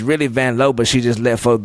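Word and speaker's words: Vanloo: Do you love Julie Vanlow? Cuz that's how you say it. Sure. Julie Van Low is my least favorite. She said, wait, hang on. It's Vanlow.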